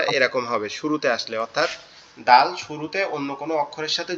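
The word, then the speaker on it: د: দালটা হচ্ছে আমাদের জিহ্বার আগা, এই আগা, সামনের, দাঁতের সাথে, সামনের উপরের যে দুইটা দাঁত আছে, সামনের উপরের যে দুইটা দাঁত আছে এই দাঁতের গোড়ার সঙ্গে, অর্থাৎ এই জি, সামনের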